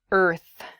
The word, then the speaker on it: earth: It is the word earth. Earth. That r and the th sound can be difficult to pronounce together.